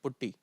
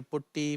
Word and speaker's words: Putty: You can just type Putty. Some people say Putty, Patti, Potty. Different people, different language, different tone. So I pronounce is Putty.